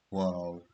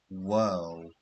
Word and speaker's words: whorl: Hair whorl. Okay, it's a strange spelling, but it's pronounced as whirl, not whorl. It's whirl.